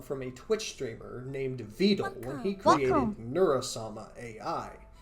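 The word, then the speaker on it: Vedal: Wait, is that Vet? I'm about to lose it. If If one more person pronounces his name differently, I'm going to crash out. It's Vet. Just because Neuro calls him Vetle.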